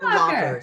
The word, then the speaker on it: Schrittenlocher: Let's all welcome Schrittenlocher. Hey, whoa, this is pretty good. Boom. You Boom. did a good job. Yes, Nail it. it's Nail it. Schrittenlocher. Schrittenlocher.